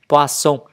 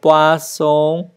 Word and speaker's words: poisson: Qu'est-ce que le poisson fait? Đọc nhớ, âm thanh đọc là S nha các bạn.